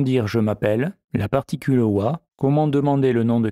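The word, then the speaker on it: は: particule wa qui s'écrit ah mais qui se prononce wa signifie en ce qui concerne elle permet de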